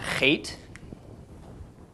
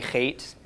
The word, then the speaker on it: Chet: even though it does not in any way make a ch sound. It's a ch. Make sure people are kind of in a, outside of a 5-foot radius of you when you first start pronouncing this letter.